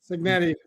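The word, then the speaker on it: Cignetti: Signetti.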